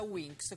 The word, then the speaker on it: Winx: Ecco, diciamo una curiosità, naturalmente Winx, cioè ali in inglese, storpiato, un po' trasformato per il cartone animato, diventa Winx con la X, che si pronuncia quasi uguale, si legge così, insomma.